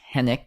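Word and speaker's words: Henwick: The W is silent. Henik as her assistant, Peg.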